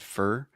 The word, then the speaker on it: for: interesting because Alexi said fur, but most language teachers will tell you the correct pronunciation is for, like or, more, etc. But a lot of times, English speakers just say fur.